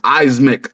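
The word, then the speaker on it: Eyesmick: to say it wrong it's pronounced eismic like if you read it it's e-y-e-s m-i-c-k yeah like on my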